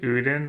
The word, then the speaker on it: Odin: Odden just like the Norse gods. Yeah, I struggle with like pronunciation. How do you say it? Odin. Odin. Odin. Call his monstrous rage. Yeah, Odin. Odin. Thank you.